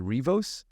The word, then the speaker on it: Riivos: So Robbie, how do you pronounce that last one? Is it Riivos?